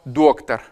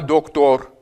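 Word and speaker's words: доктор: Donc on va voir doctar. Voyez la différence entre les deux et non pas doctor.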